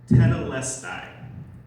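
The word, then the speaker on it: τετέλεσται: John wrote his gospel in Greek, and those last words of Jesus are just one word in Greek, and it's pronounced tetelestai.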